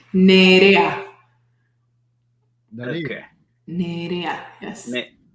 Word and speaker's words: Nerea: How do you pronounce your name? Nerea. Okay. Nerea. Yes. Nerea.